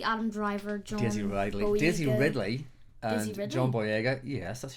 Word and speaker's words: John Boyega: Daisy Ridley, Adam Driver, Daisy Ridley, and John Boyega. Yes, that's how you pronounce it.